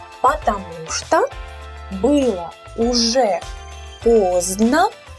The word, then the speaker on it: поздно: The D sound is not really pronounced, so we say поздно, поздно.